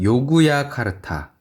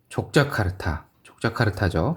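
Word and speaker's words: Yogyakarta: 물론 필자 또한 2009년 요구야카르타, 족자카르타죠. 실제 발음은,를 우연히 방문한 경험이 있었는데 그때 보았던 인도네시아는 주위 사람 말대로 거지들의 나라였다.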